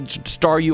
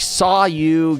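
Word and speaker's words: Staryu: star me was still staru. I can never pronounce his name right. It always ended up sounding like saw you.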